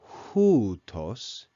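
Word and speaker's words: οὗτος: In verse 7 we read houtos, and make sure you note that there's rough breathing and a circumflex accent over the first syllable.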